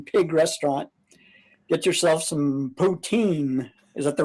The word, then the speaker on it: poutine: at the Prohibition Pig Restaurant, get yourself some poutine. Is that the right pronunciation? Yeah, that's it, poutine.